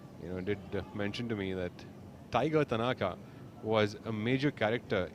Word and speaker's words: Taiga: Well, Nikhil earlier was referencing the fact that Taiga sounds a lot like, when you pronounce it like Tiger.